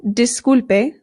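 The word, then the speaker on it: disculpe: Now in Spanish the I always makes the sound e. So this is not dispe it is dispe dispe. Also, it's good to note that the U always makes the sound oo disp excuse me.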